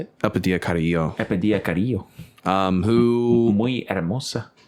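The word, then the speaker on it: Elpidia Carrillo: Epidia Carrillo.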